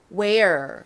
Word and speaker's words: where: 우 소리와 air 소리를 합쳐서 우에 왜 where 소리가 됩니다.